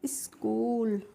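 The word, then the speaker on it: school: तो इसको हम पढ़ेंगे स्कूल यहां पर भी देखिए एच को नहीं पढ़ेंगे तो एस सी से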